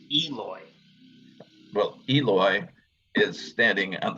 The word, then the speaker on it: Eloy: to third with the lois standing on the infield dirt with the ball i'm gonna i'm gonna correct you though now that we have the pronunciation guide it is eloy well eloy is standing